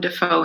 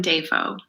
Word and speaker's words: Dafoe: I also saw a video where Willem Dafoe introduced himself, but this was like an old video in like the 70s. And he said, William Dafoe. No, it's Dafoe.